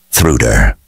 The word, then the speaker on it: Truda: say my name right it's more like thuder she said it with a sort of sing song inflection and almost swallowed the last sound she smiled at their